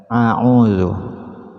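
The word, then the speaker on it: أَعُوذُ: Itu masih ada sebagian yang membaca a'udzu, bukan a'udzu. Dalam penulisan ta'awud itu terdapat hamzah dan ain, jadi bacanya a'u, bukan a'u.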